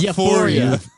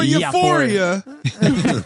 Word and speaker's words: Euphoria: kids out there I can't get over your pronunciation of yor yoria yoria it's your boy Euphoria your boy yoria Euphoria yoria uh it's not